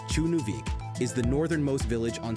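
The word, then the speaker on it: Tjørnuvík: Tjørnuvik, pronounced Chunuvik, is the northernmost village on Streymoy Island in the Faroe Islands, chilling in the North Atlantic Ocean.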